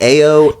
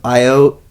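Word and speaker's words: Ayo: because she said it differently everybody been saying AO edir and it's not that it's IO and this is now the second time on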